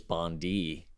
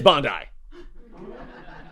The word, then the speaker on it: Bondi: time that said that I mispronounced Bondi blue and said no it's Bond D it's a beach in Australia and I'm like I know I thought it was Bondi and it is Bondi it's Bondi blue okay you feel salty